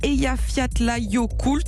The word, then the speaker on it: Eyjafjallajökull: Ils ont surtout regardé TF1 avec le film, alors accrochez-vous, je vais essayer de bien le prononcer, Eyjafjallajökull.